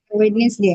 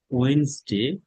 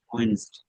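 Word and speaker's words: Wednesday: এটা মানুষ বলেছে, আমাদের সঠিক উচ্চারণ হচ্ছে ওয়েন্সডে, অথবা এখানে দেখেন ওয়েন্স, উইটনেসডে বলেন। উইটনেসডে, এটা হলো ওয়েন্সডে, ওয়েন্সডে, ওয়েন্সডে।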